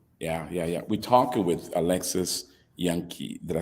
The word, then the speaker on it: Jahncke: We're talking with Alexis Jahncke. Did I say it right? Did I say it right? You said Alexis. Jahncke, but close. Yeah, Jahncke.